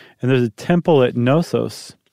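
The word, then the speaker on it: Knossos: there's a temple at nosos I think that's how you say it right in the case Island yeah yeah it's not kenosis okay um that Temple is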